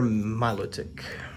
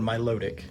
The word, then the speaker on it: Milotic: Again, that's one of those that I've heard it pronounced different ways. I say Milotic. I've also heard people just say Milotic, like, you know, it flows together more that way.